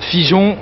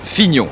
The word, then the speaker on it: Fignon: figeon comment figeon figeon non pas figeon Fignon Fignon ça s'écrit F i G n o n Fignon c'est le nouveau champion